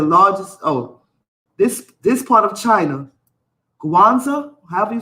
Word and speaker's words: Guangzhou: to pronounce this, because I'm tired of saying Kwanzaa, like Kwanzaa. How do you pronounce this?